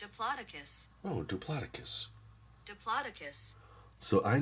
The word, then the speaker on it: Diplodocus: Diplodocus. Okay, so that's how it's pronounced. Diplodocus.